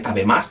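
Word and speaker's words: 食べます: Como el verbo de de tab más de comer que os he comentado antes. Tab más, se escribe tabasu, pero se pronuncia más, ¿vale?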